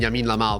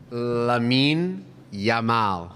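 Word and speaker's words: Lamine Yamal: list and think of a bigger name than Yamin Lal but who's the one did I say it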